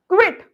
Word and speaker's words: quit: Pronunciation देखिए. Quiet. चुप रहना. Quit. छोड़ना. Quite. काफी हद तक. QUITE काफी हद तक. QUIT quit. I quit. मैं छोड़ती हूँ.